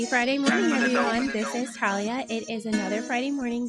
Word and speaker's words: Thalia: my name is Talia it's actually pronounced just like yours people call me Talia but it's actually Talia and I am a